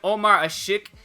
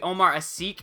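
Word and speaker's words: Ömer Aşık: remember if, I know everybody called him Omar Ashik or something, and that was apparently wrong. It's supposed to be Omar Asik, I think is how you say it, but I'm never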